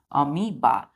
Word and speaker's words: amoeba: अमीबा। मतलब एम के बाद हम ई को प्रोनाउंस करते हैं, ओ साइलेंट होता है, तो हम बोलते हैं अमीबा।